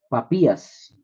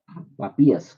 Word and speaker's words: Papías: este se este hombre se llamó Papías con acento en la I. Papías con acento ahí en la I. Papías suena como papa. No es como decir papi, pero con s papías papías.